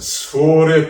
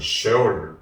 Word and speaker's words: 셰올: 자, 수월의 뱃속에서 수월, 셰올, 발음은 셰올인데 음부, 저승, 죽음이란 말입니다.